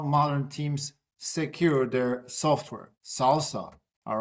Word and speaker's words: SLSA: Yeah, let's start with the well it's pronounced salsa but it's an acronym for the supply chain levels for software artifacts.